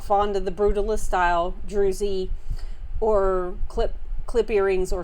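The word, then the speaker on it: drusy: It's D R U S Y, I think is how you pronounce or spell it. Drewzy is how you say it.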